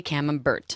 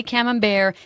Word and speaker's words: Camembert: Paris anywhere like this do not say cam Umberto yeah just say camembert then you're in you're